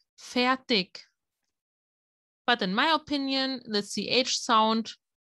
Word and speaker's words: fertig: Fertig, the ending, it's like ch, but other dialects or other areas pronounce it more like a k sound. Fertig.